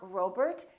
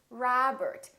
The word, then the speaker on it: Robert: are going to be spelled with the letter O make sure that you don't say oh it's not Robert it's Robert it's not McDonald it's McDonald alright let's practice repeat